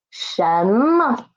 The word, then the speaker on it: 什么: Next one is 什么什么诗人神 mo and this mo is neutral tone.